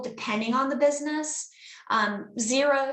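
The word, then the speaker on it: Xero: on the business um zero spelled with an X that is a company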